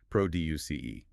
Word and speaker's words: produce: As a verb, meaning to make, create, or manufacture something, the pronunciation rules dictate that the stress falls heavily on the second syllable. Listen closely. P R O D U C E.